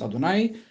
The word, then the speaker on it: Adonai: Siempre sabemos que en las escrituras, cuando aparecen las cuatro consonantes, lo pronunciamos Adonai con lo que significa.